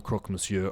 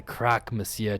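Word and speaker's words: Croque Monsieur: introductions you are the croc monsieur are you not that's the crack messiah to you mondia people always get the pronunciation wrong i'm not really hearing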